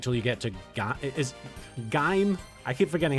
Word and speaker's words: Gaim: If it's spelled G-A-I-M, then it's I, like... Oh, okay, so Gaim.